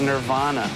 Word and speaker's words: Nirvana: pronounce the name of the band is Nirvana.